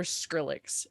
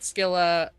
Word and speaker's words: Skylla: what was her name i want to call her skrillex and it's not skrillex i mean come on